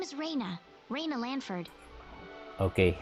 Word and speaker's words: Rena: My name is Raina Lanford. Okay, her name is Reina, not supposed to be pronounced as Rena or Rena. It's Reina, at least in English, that's how you pronounce it.